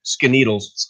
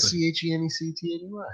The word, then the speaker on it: Schenectady: Skeneedles. See, I've heard Skinny Atlas, but they don't know how to spell that.